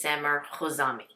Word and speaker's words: Samer Khouzami: i just want to make sure that i pronounce his name correctly so the brand that i'll be talking about is sammer kozami well you did it's really good jose yes